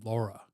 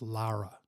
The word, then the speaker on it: Lara: Scott cannot even get he calls her Laura her name is LA Lara Lara FM L A R A he can't even say her name right but I don't know